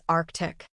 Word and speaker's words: Arctic: The mistake is pronouncing it arctic. That first C after the R is not silent. You have to make that hard K sound. The correct pronunciation is Arctic.